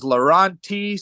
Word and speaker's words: Lorawnt: t Dash T smash my name is laurenti smash everyone knows me or a lot